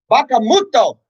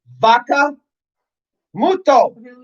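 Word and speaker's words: vacca muta: Bacamuto. He doesn't even say it right. It's vaca muto.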